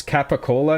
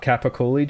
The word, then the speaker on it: capicola: It's Capicola, not Capicoli job? Oh, okay. I've always seen it spelled with an I, so I thought it was an E.